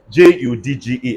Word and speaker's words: judge: to me what do you call it George j-u-d-g-e everybody saying judge all right let's carry on